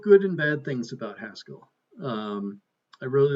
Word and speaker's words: Haskell: know I haven't used Haskell in a few years I still I still don't always pronounce it to uh to rhyme with rascal which I understand is the correct is the correct uh pronunciation so if worry mod